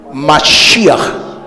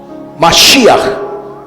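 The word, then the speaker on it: מָשִׁיחַ: él es El Mesías Cómo se dice la expresión Mesías en hebreo masia masia masia así se dice ve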